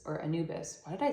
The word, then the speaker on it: Anubis: the ancient Egyptian god of the a afterlife anibus or Anubis why did I say it like that um